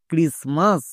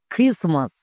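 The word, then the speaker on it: Christmas: এখানে টি কিন্তু সাইলেন্ট, আমরা জানি এম এর আগে টি থাকলে টি সাইলেন্ট।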